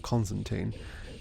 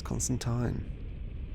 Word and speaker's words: Constantine: to read Constantine now well con it's Constantine I've been tricked into media into like calling him Constantine CU of Keanu Reeves but that's not how you say his name and you can't trick me Universe it's Constantine like line and I want to